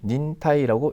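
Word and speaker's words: 忍耐: 필요하게 된다 이렇게 됩니다 인내는요 닌타이라고 있습니다 2번이 답이네요 일본 린데 그 인정 인정 될 것이고요 3번은 진 타임은 그냥 우리 인체를 찐따이라고 합니다 4번은 특별한 거 아니고요 그래서 아 인내할 때는 닌타이라고 읽어주시면 되겠습니다 그리고 각각의 동사로 가보면요 때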